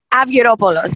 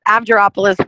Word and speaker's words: Avgeropoulos: actually how you pronounce what's the proper greek pronunciation avioropolos but amgeropolis works too i'll i'll take it